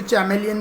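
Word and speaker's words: chameleon: कैमेलियन जो रहता है, जिसको कुछ टीचर चैमेलियन भी प्रोनाउंस करते हैं, उसकी भी लंबी चिपचिपी ज़बान होती है इंसेक्ट पकड़ने के लिए, ठीक है।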